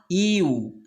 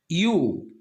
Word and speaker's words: ewe: Because EWE pronunciation is not EU. This is pronounced U. So obviously this is semi-vowel sound.